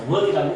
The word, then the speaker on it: worthy: 자, worth 할 때는 자, 이 발음이죠. worth 무성음입니다. 자, 이 y가 붙으면 자, 자음과 자음 경력을 받아서 이게 유성음만 되죠. 따라서 worthy라고 읽어야 됩니다.